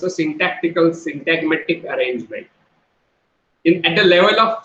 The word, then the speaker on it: syntagmatic: how do we pronounce that? Syntagmatic.